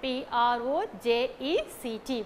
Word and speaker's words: project: project p-r-o-j-e-c-t project okay if the stress falls on the first syllable pro that is per okay project okay if you are giving stress for the first syllable project then it's a noun if we are giving stress to the second syllable then it's a verb okay project okay project